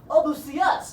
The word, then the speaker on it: Odysseus: Odysseus. That's how you say it. All you've been saying it wrong.